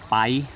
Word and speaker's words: Pai: it's spelled pie as in Pai but it's pronounced by and I'm by this beautiful river where there's